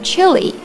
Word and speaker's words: chilly: 我们先来看这个词的发音，它发的是短元音 a，它常常会被跟这个长元音 e 搞混啊。